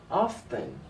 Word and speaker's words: often: camping monkey super colossal man underneath they usually pronounce ha often often is not one delete but me I